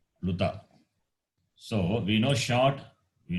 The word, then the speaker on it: Pluta: Those are called pluta. So we know short, we know long. So elongated or protracted sound is called plutaha.